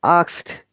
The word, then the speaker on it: asked: asked, you see, you have to just assume there is no e.